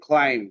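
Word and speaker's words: climb: যেমন ক্লাইম। তাইলে বিটা এখানে সাইলেন্ট বিতে আমরা আন্ডারলাইন করব।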